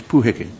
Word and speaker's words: Puheke: The spelling and pronunciation of this manga is puheke.